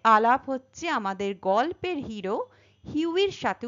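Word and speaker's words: Hughie: এখানে আমাদের আলাপ হচ্ছে আমাদের গল্পের হিরো হিউইর সাথে উচ্চারণটা হিউই বলব।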